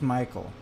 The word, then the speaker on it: Michelle: His name, well, I don't know, I doubt that he's a kid anymore, but his name is spelled like Michelle, but it's pronounced Michael.